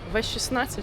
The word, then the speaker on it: V16: Е, як англійською мовою, так і читається V16.